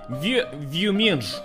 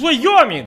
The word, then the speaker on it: Wyoming: He say, how do you pronounce this? And of course I said, Wyoming. And he say, no. It's Wyoming. This is US state, blin. How you not know?